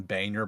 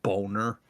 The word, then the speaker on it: Boehner: House was John Boehner, but it's clearly spelled Boner. Mm-hmm. Boner? Yeah. What do you mean? Yeah, it's Boehner. So it's Boner. It like clearly says Boner, but they would pronounce it Boehner.